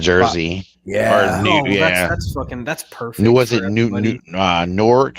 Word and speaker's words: Newark: mean to call it Newark, right? So I'm trying to say it like they do in fucking Letterkenny. Newark. Like Stuart.